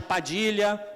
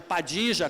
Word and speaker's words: Padilha: Mas você pode chamar de Padilha, pode chamar de Padija, como se fala no Uruguai e na Argentina, aqui por influência provavelmente muita influência britânica, eles trocaram o som de LH, na Espanha é LH.